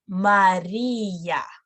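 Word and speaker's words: María: But if you see this little sign over here, that means that it's no longer diphthong. You need to pronounce each letter separately. Por ejemplo, Maria, ia. It's not ya, it's ia. Maria, not Maria, Maria.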